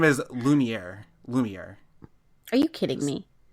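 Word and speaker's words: Lumière: you spell that uh it's l e uh hold on l u l u m i e r all right yeah that's what I thought so that's like French really Harris you're a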